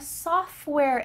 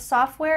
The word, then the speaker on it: software: I'm a software engineer. Notice that the T in the middle of software is cut out.